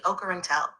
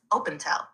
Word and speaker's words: Ocarentel: Open the relay to the Ocarentel, also phonetically heard as Opentel.